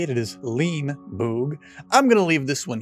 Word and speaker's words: Leenie Boog: we know how to say it it is lean boog i'm gonna leave this one here so if